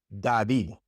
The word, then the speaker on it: David: When the D comes at the beginning of a word, it's pronounced like the D in English, d, d. Like in the name David, David. That's David in Spanish, David. Or in the word dedo. Dedo means finger, dedo. That D at the beginning is pronounced like the D in English, David, dedo.